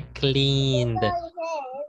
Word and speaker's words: cleaned: Sería cleaned. ¿Dónde se pronuncia la E?